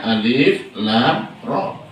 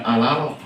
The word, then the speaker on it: Alif Lam Ra: Karenanya bacanya Alif Lam Ra. Bukan Alaro. Bukan Alaro.